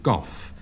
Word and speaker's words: golf: John Betjeman pronounces this game golf, feeling Yeah. that the L is entirely superfluous, and I agree with our best poet.